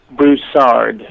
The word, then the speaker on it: Broussard: the last name the way you want it pronounced brousard that's what I would have thought okay just